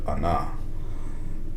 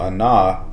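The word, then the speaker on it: עָנָה: uh is a verb it is pronounced Ana all right and to answer or to respond Ana and um the let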